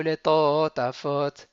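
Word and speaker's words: לטטפת: Vehayu leto tafot. Donc vehayu leto, on ralentit sur le to, tafot. To, on ralentit, tafot.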